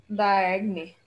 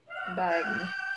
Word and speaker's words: Diagne: So like my last name is pronounced like DIAGNE. Jan quoi. But since there's no ja in English, if we have to pronounce that, it's gonna be dia. DIAGNE.